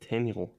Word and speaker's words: tenho: Tenu ten. I have tenu. Tenu. Tenu. Okay. Tenu. How is uh the word I have like tenu pronounced in Portuguese? Tenu. I think it's nasal.